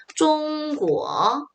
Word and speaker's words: 中国: 中国中国 선생님 발음 한번 들어보세요.